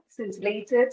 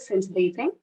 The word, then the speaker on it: scintillate: is sincerely spelling s-c-i-n-t-i-n-l-e-t-e the c is silent here it's a verb meaning spark sparkle dazzle or impress with liveliness or width so some usages are scintillated scintillating example during the interview